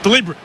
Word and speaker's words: deliberate: great fun at parties deliberate is four syllables not if you're in the crowd jeff it's deliberate and you know that as well as i do throw it back in